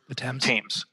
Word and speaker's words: Thames: water they got from the how do you pronounce Thames? The Thames.